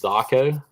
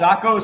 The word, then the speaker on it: zako: all of us and telling us it was zako yep I'm just wrong I'm just saying it wrong zako sounds zako stands for little fish in Japanese and that's why it